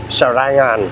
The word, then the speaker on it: Serangan: Now, you pronounce the word sarangan. Yeah, sarangan.